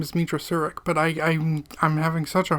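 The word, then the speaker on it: Meetra Surik: We play as a character known as the Exile, Mitra Surik. I want to say her name is Mitra Surik, but I'm having such a hard time pronouncing it.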